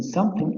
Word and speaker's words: something: Notice that the TH in brother is pronounced V and the TH in something is pronounced F.